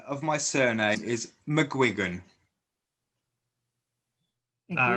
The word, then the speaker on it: McGuigan: it's a northern irish catholic surname and it's pronounced mcguigan um although dialects may vary i mean my